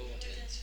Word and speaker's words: wouldn't: You wouldn't. You wouldn't. You wouldn't. Good. And don't be afraid. The T sometimes gets dropped here, and that wouldn't is often pronounced like the material wooden.